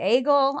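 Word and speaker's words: Eigil: So some people say agel I'm going to say Iel. It's easier to say.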